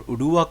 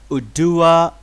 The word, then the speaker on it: Oduwa: decentralized network the most trusted valid to store udua coin and also a staking machine for node